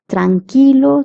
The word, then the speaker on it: tranquilo: Qui is pronounced as k. Tranilo.